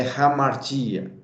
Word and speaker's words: hamartia: Esse H realmente tem um som de R, como nós temos, por exemplo, algumas palavras no inglês, horse, house. Então, a pronúncia correta do grego é hamartia, ok?